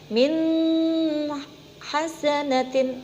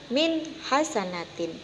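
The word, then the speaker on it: مِنْ حَسَنَةٍ: Kalau kita membacanya misalnya seperti ini, min hasanatin, itu salah, karena membacanya ada dengungnya. Sedangkan idhar halqi harus dibaca jelas, yaitu yang betul min hasanatin, bukan min hasanatin, seperti itu.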